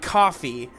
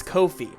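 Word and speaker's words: Ko-fi: uh ko dash fi it's not coffee like i thought it was but it's kofi rhymes with no fee and uh kofi is a great way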